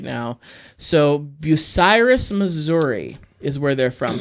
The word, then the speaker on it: Bucyrus: I'm saying Bucynus, Missouri. Bucynus. It's not an N. That's an R. Bucyrus. Oh, it's an R?